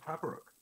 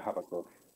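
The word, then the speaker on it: Habbakuk: And if your god has spurned you, maybe the path of Havarok. Maybe something you could entertain. Is that it? Habakkuk? Yeah, Habakkuk.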